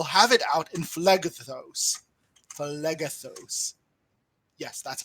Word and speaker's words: Phlegethos: Phlegethos. Yes, that's how it's pronounced.